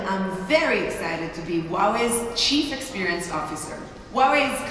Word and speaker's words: Huawei: And remember, it's pronounced Huawei and Gadot.